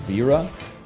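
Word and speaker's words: Vajra: It's actually pronounced Vera.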